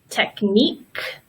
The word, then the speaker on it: technique: and earthquake we can also pronounce the letter Q like the letter K technique and conquer so here's a difficult